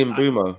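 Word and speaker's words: Mbeumo: How do you say is it Embo? Is it in Buu? It's actually in Bumo. It's inbumo cuz I've seen a lot about the pronunciation and I think I've been saying it wrong.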